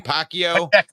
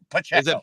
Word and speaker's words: Pacheco: Pacquiao? Pacheco.